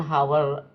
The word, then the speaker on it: hour: to live on one hour Pak kalau itu bacanya Hnya silent ya Jadi kalau untuk pengucapan